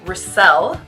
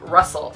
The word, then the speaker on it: Riscell: last name is riscell not russell i hate when people pronounce my last name incorrectly i'm super opinionated and